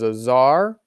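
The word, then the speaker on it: tsar: uh russia here uh the russian king is known as azar and it's often spelled with a t in the front but they are the king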